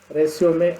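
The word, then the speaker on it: résumé: Resume, RESUME, is pronounced as resume, that is given in the bracket.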